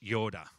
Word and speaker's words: yada: Now, in the Old Testament, that word know in the Hebrew is a word yada. I don't know if I pronounce that correctly, but it's Y-A-W-D-A-H, yoda.